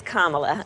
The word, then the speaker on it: Kamala: It's Kamala. Kamala. Yeah, just think of like a comma and add a la.